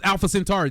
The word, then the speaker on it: Alpha Centauri: So not something Tari something's Alpha Alpha Centauri. There you go. Thank you. Right. Right. There you go. There you go. Thank you. Yeah, you said it right. You're correct. You're correct.